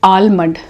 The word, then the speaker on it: almond: So now there is a word called almond, which you pronounce as almond. Because of L, it is not almond, it's almond. The L is silent.